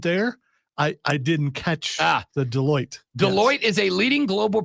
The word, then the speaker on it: Deloitte: Now, there may be some 100,000-aires on your team, but this to me, assuming, Texter said, Rob, it's pronounced Deloitte.